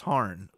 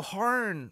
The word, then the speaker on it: Hârn: about horn horn and there's one of those little pointy things over the a harn I think it's still pronounced harn han han it's like the uml in Blue Oyster Cult it's not metal without